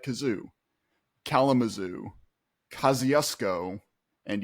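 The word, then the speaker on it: Kosciusko: briefly lived there, and it's named after the like Polish American Revolutionary War general Kosciuszko, but it's pronounced Kosciuszko because of course it is.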